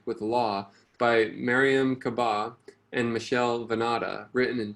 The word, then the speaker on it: Kaba: Kaba. That's how she pronounces her name.